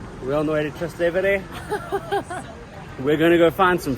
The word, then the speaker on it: Trastevere: We're on the way to Trastevere. Ew, don't say it like that. We're on the way to Trastevere.